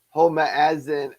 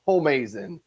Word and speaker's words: Homeazin: asking yourself ho home homa as in and you don't know how to pronounce the word up there it's home as in and you're like where